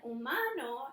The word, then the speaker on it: humano: with the letter H, but the H makes a different sound in both languages. H says in English, and in Spanish it's silent.